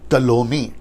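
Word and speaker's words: Ptolemy: उसके जो 4 जनरल हैं वो है सिलेकस, फिर उसके बाद में है लियासेमैकस, फिर उसके बाद में कैसेंडर और टलोमी। प्रोनाउंसिएशन ठीक से देना, टॉलमी, ठीक है ना।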